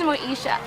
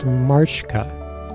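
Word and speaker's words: Mashka: Everybody loves Moesha. Moesha. I think it's pronounced Marshka, a teenage orphan who steals to survive.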